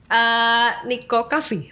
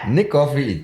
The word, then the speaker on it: NIC Coffee: Niko Coffee. Nah, bener nggak? Nick Coffee itu dari NIC. Memang ngambil nama saya. Iya. Tapi dibacanya dalam cara membaca dalam bahasa Inggris.